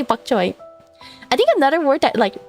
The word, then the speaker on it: bok choy: That is how you say it in um English. Yeah. You would just say buck choy.